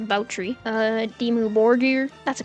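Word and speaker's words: Báthory: Baie, or if that's supposed to be named after Elizabeth Baie, it would be pronounced Boutry.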